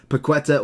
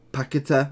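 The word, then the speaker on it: Paquetá: Paqueta, or Paqueta, I think is how you pronounce his name.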